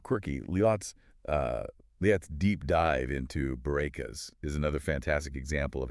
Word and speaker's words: Bourekas: of pronouncing the name Bourekas for non-Hebrew speakers. Right. I loved her comparison to saying boo like a ghost, followed by Ray, like in the name Renee, and ending with Cass like Cassidy.